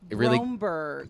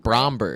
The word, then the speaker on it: Bromberg: It's a lot of people call me Bloomberg, which isn't not how it's spelled at all, but it's the closest thing they know.